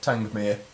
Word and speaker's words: Tangmere: I think it's, yeah, Tangmere.